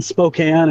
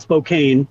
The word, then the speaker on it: Spokane: it's been crazy today so I'm in downtown Spokane and for your listeners that's how it's pronounced not Spokane which I usually hear everywhere else around the